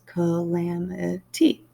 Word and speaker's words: calamity: by kwame alexander so calamity has four syllables called lamb eti and this is how it's pronounced ko lam tea it is also a